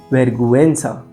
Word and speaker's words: vergüenza: with the diaresis, then the U is actually pronounced. For example, pinguino, vergüenza.